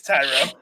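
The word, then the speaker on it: Thairo: estrada tyro thario tyro oh it's tyro listen when it's spelled like mario that's you know that's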